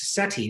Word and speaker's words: SETI: what you're after um amusingly all of these things are pronounced seti so as long as